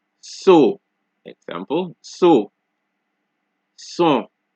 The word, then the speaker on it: son: So S at the beginning of a word is pronounced like a regular S. So, example, so, son, singe, so, son, singe, so, son, singe.